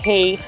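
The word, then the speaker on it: hej: out the food this word in swedish means hello it is pronounced hey not head as some of you may think okay here's the chocolate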